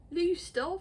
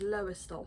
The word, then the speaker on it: Lowestoft: Lowestoft? Lowestoft. To everyone outside of Norfolk, that is Lowestoft. Yeah, that's, well, how it's actually pronounced by people.